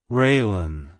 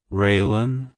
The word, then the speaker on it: Raelynn: sounds it's pronounced as railen railan railen to pronounce it correctly emphasize the ray sound at the beginning followed by the blin